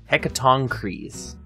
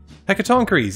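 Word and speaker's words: Hecatoncheires: In English, stress on the fourth syllable, it says on Wikipedia. Hecatoncres. Hecatoncres, yeah, that sounds right.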